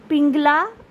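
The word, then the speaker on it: পিঙ্গলা: ইরা পিংলা এবং সুষুমনা অনেক জায়গায় অনেক ভুল প্রোনাউন্সিয়েশন শুনতে পারেন আপনারা অনেক ভুল উচ্চারণ না তিনটি নাদি হলো ইরা পিংলা এবং সুষুমনা তিনটি প্রধান এবং এই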